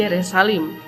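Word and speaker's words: ירושלים: Kata Yerusalem berasal dari nama ini , yang dalam bahasa Ibrani diucapkan Yerushalayim, yang berarti rumah suci.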